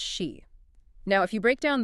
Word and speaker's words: 詩: So the character is pronounced she.